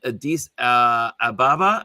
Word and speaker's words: Addis Ababa: Your work has been in Addis Ababa. Am I Yep. saying it right? Addis Ababa.